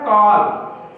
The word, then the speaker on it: call: जैसे हम लोग लिखा रहता है कॉल, CALL, CALL, इसे साल पढ़ना चाहिए, लेकिन हम लोग क्या पढ़ते हैं कॉल, क्या पढ़ते हैं कॉल, तो सी का उच्चारण क्या निकल रहा है का निकल रहा है।